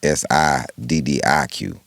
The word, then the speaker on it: Siddiq: My name is Siddiq. His name is Saadiq. Right. It's actually pronounced different.